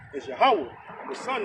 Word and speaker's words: Yahweh: That's how you really pronounce his name, Yahweh.